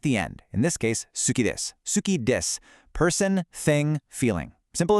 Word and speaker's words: suki: First, we have suki, pronounced suki, for like.